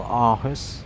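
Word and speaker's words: Aarhus: Alton airport today is also in Denmark something called Echo Kilo Alpha Hotel Arus. I hope I'm pronouncing it spelled A A R H U S and it's just not the northwest of uh Castro airport.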